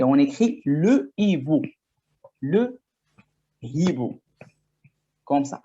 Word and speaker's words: hibou: Le hibou et l'histoire. Le H de hibou s'appelle un H aspiré. Vous pouvez prendre des notes. Le H de hibou s'appelle le H aspiré.